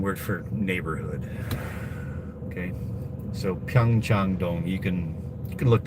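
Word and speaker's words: Pyeongchang-dong: Okay, so Pyong Changdong, you can you can look that up on your Google map.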